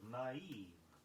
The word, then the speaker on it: naive: Make 2 syllables of the word naive.